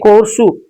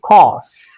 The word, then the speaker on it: course: We say coursu. Like this we write, or otherwise we say course. R sound and SAR sound, both of them come in the pronunciation, in the utterance, but this is wrong. You simply have to say cause. This is the pronunciation. COURSE should be said as cause.